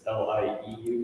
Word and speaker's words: Lieu: It's LIEU, like lieutenant.